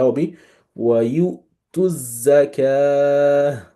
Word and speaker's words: zakah: So that will be wa you to zakah. So this is zakah. It's not zakawa.